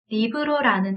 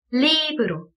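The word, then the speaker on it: libro: 그래서 이 책이라는 리브로라는 단어는 강세를 어떻게 살려줘야 될까요? 그쵸? 리브로, 리의 강세가 들어가게 되는 거죠. 얘를 우리가 마음대로 리브로 이런 식으로 할 수는 없어요.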